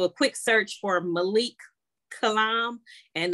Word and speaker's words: Killiam: I do know that if you're on Facebook, you can, do a quick search for Malik Kalam, and that's spelled like Kill I Am, like KILLIAM.